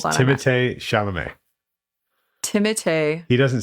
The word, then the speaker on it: Timothée Chalamet: Don't tell me that's how you pronounce it. Yeah. Wait, are you serious? Yeah. Timotei? He's French. It's Timothée Chalamet.